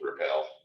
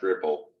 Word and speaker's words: Replit: I would have, when I first looked at the word, I thought I would have gone with repel, and was very curious why it was supposed to be pronounced Ripple.